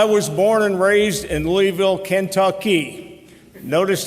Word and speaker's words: Louisville: I was born and raised in Louisville, Kentucky. Notice how I said that. That is the actual pronunciation.